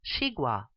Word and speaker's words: xigua: This vegetable is pronounced xigua.